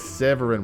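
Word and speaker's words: Séverin: His name is Severin with like an S-E with like a accent on the first E.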